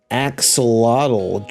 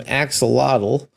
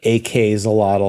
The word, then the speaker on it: AK-xolotl: be hopping into some axolotl uh I think you pronounced that right it's not ak's a lotto I think Axolotl would